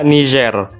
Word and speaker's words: Niger: yang satu lagi nah kalau Niger itu sebenarnya dibaca nizer cuma y Mimin capek juga kalau dari awal sampai akhir bacanya niiger jadi biar gampang Niger aja dah nama negara Niger itu